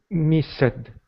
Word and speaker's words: missed: However, miss, the S is a voiceless sound. So, Salvatore, one more time. Missed. No, it's going to sound like missed.